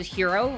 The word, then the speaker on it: gyro: to change it to hero, right? It's like, oh no, it's pronounced hero.